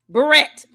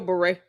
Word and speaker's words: beret: Even if you do say Barrett. You've got to butcher the same word she butchers. Because it's still beret.